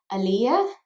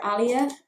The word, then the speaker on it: Aaliyah: will pronounce this wrong aaliyah aaliyah i believe because i kept calling her alia and she was like oh no it's aaliyah and i'm like